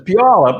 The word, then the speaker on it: Puyallup: First, Deanna is correcting me on my pronunciation, as you did, David. Puyallup. Puyallup? Okay. It's Puyallup.